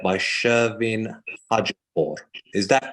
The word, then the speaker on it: Shervin Hajipour: months, and that is the song Baraye by Shervin Hajipour. Is that correct as well, the pronunciation, Katy?